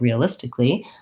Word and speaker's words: realistically: like realistically which is it looks like it should be realistic uh lee like there should be another syllable there but really the these two tick li are just two syllables so it sounds more like tick and li rather than kali or kali that a is basically silent and there's kind of an extra l there so if i rewrote